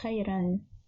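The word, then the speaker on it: خيرًا: This word is pronounced as khayran. Originally it is khayr, and with Tenween al-Fath it is pronounced as khayran.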